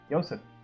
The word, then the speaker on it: Yosef: Hilda what's up Hilda yosef sacrificed himself to save us we can all agree that that should be pronounced Yosef and not Joseph's right it looks like a